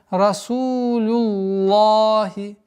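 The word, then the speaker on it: Расулуллахи: И поэтому получается Расулюллахи, лахи, а не ло, звука о нет.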